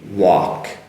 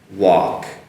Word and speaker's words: walk: So first on walk, so woo and aw sound and silent L and K, walk, walk.